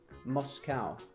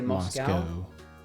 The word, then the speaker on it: Moscow: Moscow. See, Americans say Moscow. We say Moscow. Well, you'd say cow. C-O-W, cow. Why wouldn't it be a Moscow? Because we say cow.